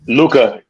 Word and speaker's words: Luka: How you pronounce his name again? Luka.